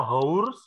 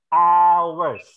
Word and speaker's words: ours: lagi Rizieq Rich PLTD Jadi bukan dibaca hours tapi dibaca awers jadi inilah bahasa Inggris